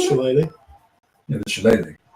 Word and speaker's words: shillelagh: I think it's shillelagh.